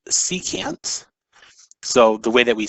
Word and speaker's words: secant: additional trig function is abbreviated sec and it's pronounced secant so the way that we say it is